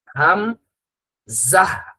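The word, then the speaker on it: همزة: এরপরে হামজার উচ্চারণটা হাম জাহ।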